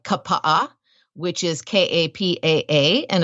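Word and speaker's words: Kapaʻa: than in English but every single vowel is pronounced so that's your key like a word like Kappa which is ka PA a and it's one of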